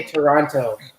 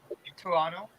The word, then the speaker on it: Toronto: about the pronunciation of did people get really angry if you say the second t in toronto because i've heard people get really angry yeah like they say toronto i mean like personally